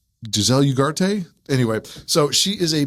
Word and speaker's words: Ugarte: It's Giselle Ugarte.